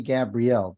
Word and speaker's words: Gabriel: his name is Renee Gabrielle did I say that correctly I just want to listen up I I pronounce it more easily like Gabriel Gabriel okay um all